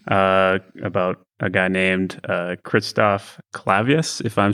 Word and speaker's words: Clavius: Well, Clavius, Christoph Clavius, that's usually how it's said. Although if you watch 2001: A Space Odyssey, I think they pronounce it Clavius.